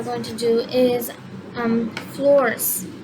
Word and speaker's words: Florz: to do is um floors floors i think that's how you say it because i like i'm still practicing how to say i think it's floors um it's spelt f l o r z so yeah i think